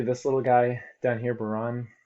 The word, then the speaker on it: Bahrain: I want to point out these different countries, especially this little guy down here, Bahrain, right above Qatar. That's how you pronounce it.